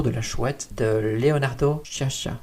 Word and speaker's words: Sciascia: Avec l'œuvre maintenant dont je souhaitais parler, c'est Le jour de la chouette de Leonardo Sciascia. C'est assez difficile, ça s'écrit S-C-I-A.